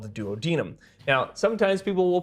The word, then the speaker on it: duodenum: The small intestine is called the duodenum. Now, sometimes people will pronounce it duodenum, and I actually used to